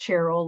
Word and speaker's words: Cheryl: my name is pronounced Cheryl like cherry and church and chicken but if you call me Cheryl that's okay but it